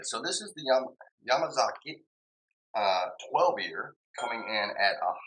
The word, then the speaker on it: Yamazaki: how you actually pronounced yamazaki because it's not just spit out like that it's yamama Zak and so if you didn't catch that yamama Zak is how it's actually pronounced and you can say